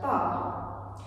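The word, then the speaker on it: barre: So that takes us to our very first word, bar.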